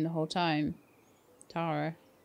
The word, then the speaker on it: Tara: Oh, do you ever think that maybe your name should be pronounced Tara? I mean, it's Irish, right? Yeah, well, that's how I've been pronouncing her name the whole time. Tara.